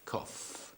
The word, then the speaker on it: cough: It's spelled in a funny way. I think Yes. it's a little difficult. Yes, because it sounds with the F instead of G H.